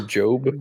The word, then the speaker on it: GOB: Job It's or G-O-B. G-O-B. Will Arnett. Will Arnett. Will Arnett. Yeah. Right. It's G-O-B, but it's pronounced It's Gob kind of gob. or Job.